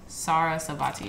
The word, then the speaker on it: Sarasvati: Sarasvati, yeah, that's how you say it.